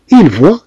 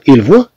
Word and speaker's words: voit: تي فوا انت ترى، il voit هو يرى. طبعا كلهم تيتنطقوا بحال بحال، ولكن في الكتابه راه مش بحال بحال.